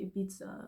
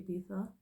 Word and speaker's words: Ibiza: how you say it I know people around me always say a pizza but I think I heard someone say you're supposed to say Ibiza it's a really dark